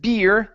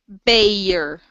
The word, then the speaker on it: bear: Right here instead of beer, that's a long a sound. Aer. Bearer. Okay. Beer. Uh almost. So here you're saying e beer. Instead of e it's a a beayer. Bayer.